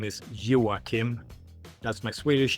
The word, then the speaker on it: Joacim: My given name is Joachim. That's my Swedish name. It's spelled in a slightly different way than most Swedish Joachims.